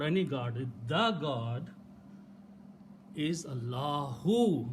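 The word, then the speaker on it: الله: If this alif is not pronounced, Allah, Allahu.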